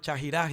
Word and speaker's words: Chaxirasi: gente dice, no, es Chajirasi, otra dice Chaxirasi. Bueno, Claro, esos son deformaciones porque teniendo en cuenta que la X se pronunciaba ja o ji.